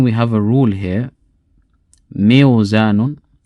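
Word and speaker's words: ميزان: a kasra preceding a waw sakina, it's difficult to pronounce. This, we don't have this in the Arabic language. That sound, meow, ill, we don't have that. So what happens in this case? The waw is turned into a ya to make it easy to pronounce, and it becomes mizan.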